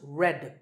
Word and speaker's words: read: past participle forms are spelled re ad but pronounced red like the color of red so you might be